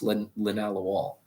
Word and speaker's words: linalool: All right, spelled linalool but pronounced linalool.